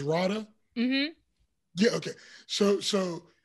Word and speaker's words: Radha: uh is i want to make sure i pronounce sorry it's radha mm-hmm yeah okay so so in rawness time